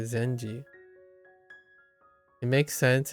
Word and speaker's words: 禅寺: If you put this word onto the end of the name of a Zendara, the pronunciation changes to Zenji.